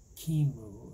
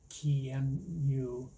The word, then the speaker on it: QEMU: One is Qemu, or Qemu, and which is spelled Q-E-M-U.